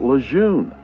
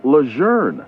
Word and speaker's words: Lejeune: Most people tend to call it Camp Lun, but the pronunciation of the general's name is actually Leger instead of Lun.